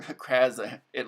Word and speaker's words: Krazai: Then we have, of the Tanweya race, we have Crazy Sophie, or Kraza. It looks like Crazy Sophie. Their last names, their surnames come first in their culture. It's actually pronounced Krazai.